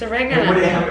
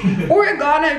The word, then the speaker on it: oregano: a dog that's disgusting it's oregano what do you mean it's just the same thing origana just you're adding extra that's the thing Australians shorten everything but they will add extra syllables and I don't understand why like oregano is so much easier type or a and there's no a it's like oregano oregano oregano it's all together like you know like